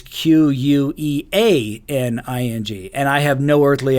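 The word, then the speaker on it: cuckqueaning: You would think it would be Cuckening, but it's Queaning, and I have no earthly idea why.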